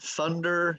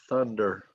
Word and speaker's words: thunder: hear is thunder and to say the word thunder you have to put your tongue between your teeth so thunder thunder lightning and thunder or